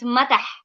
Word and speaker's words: matah: So the head we call it matah. Mother. Matah. Okay. Matah with a T, not the D.